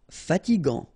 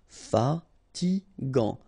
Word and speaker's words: fatigant: Final T not pronounced. Fatigant. Fatigant. Moche.